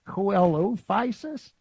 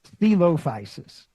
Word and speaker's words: Coelophysis: I always mispronounce this. I always would put the emphasis on the wrong syllable. It's kind of funny when you first look at it, I was like, Coelophysis? But it's Stylophysis.